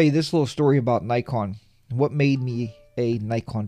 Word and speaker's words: Nikon: wrong Impressions here but I've also heard it pronounced Nikon Nikon instead of Nikon and I don't know